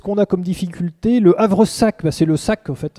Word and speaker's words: havresac: a comme difficulté le havre sac c'est le sac en fait un havresac même si on prononce à vrsac et à 15 aces